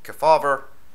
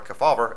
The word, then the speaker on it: Kefauver: to control all these operations and senator estes kefauver k-e-f-a-u-v-e-r hope i'm pronouncing that correctly too as far back as the 40s in introducing the keller kefauber act to strengthen a controversial section of the